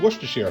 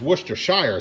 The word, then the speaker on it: Worcestershire: I'm gonna add that I've always called Worcestershire sauce but I've recently been corrected is Worcestershire sauce the proper pronunciation but anyway whatever it's